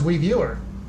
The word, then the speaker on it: Wiiviewer: It is WIIVIEWER. That's it. It's pronounced Wiiviewer.